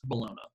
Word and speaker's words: Bologna: 10 anyway 88 the University of Bologna or more properly pronounced Bologna okay but you know I like to call it the University of Bologna because you know they